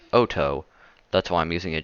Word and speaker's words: Otto: Not Otto. It's a Japanese virus, so it's pronounced Otto.